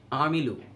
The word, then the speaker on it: عملوا: আমানু তারা ঈমান এনেছে, আমিলু আইন কঠোর করে উচ্চারণ হবে, তারা আমল করেছে, সলিহাত